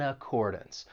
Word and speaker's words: accordance: And keep in mind that final syllable in accordance, even though it's spelled D-A-N-C-E, you're not going to say dance. It's going to have that schwa sound. It's going to sound like dunce.